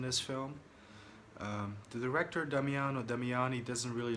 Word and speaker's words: Damiani: spaghetti western directed by Damian damiano damiani yeah that's a mouthful but I think that's the way you pronounce the director's name this one stars Lucas